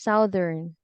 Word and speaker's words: Southern: in a certain U.S in the southern is Southern and pronounced Southern yeah Southern U.S so Blues now